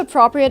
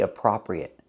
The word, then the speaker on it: appropriate: in formal conversations pronunciation we cannot say appropriate we have to use a long o for the second syllable appro appropriate not appropriate but appropriate use the long o like No And Go Pro appropriate so I say it